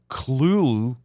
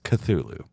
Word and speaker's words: Cthulhu: soup for instance c t h l was originally pronounced either cluel or ctulu yeah i mean but nowadays the most accepted way is cthulhu glad we got that